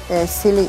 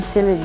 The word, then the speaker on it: Selly: Selly, yani ismim Selly diye okunuyor bu arada yanlış okumayın.